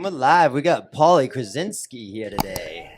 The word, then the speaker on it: Kazalski: We got Paulie Kazalski here today. How do you sound on the ears? You loud? Good? Kazalski, Kazalski, how do you say it? Kazalski.